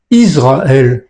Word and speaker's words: Israël: D'autres prononcent Israël comme si c'était écrit avec un Z.